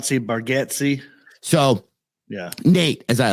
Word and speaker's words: Bargatze: from me, Nate, and I always say his last name wrong, Bagatti. I have like a weird, not a phobia of saying names. Like I get stressed when I have to say a name that's just not easy. Yeah. I've heard it pronounced Bargatze.